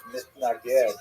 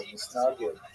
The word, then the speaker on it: Mitnaged: the Hasidim, and even the name itself, Mitnaged or Misnagid in the Yiddish pronunciation, refers to how the